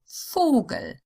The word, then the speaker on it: Vogel: The O sound is long when it's followed by a single consonant that would belong to the next syllable if separated. Vogel.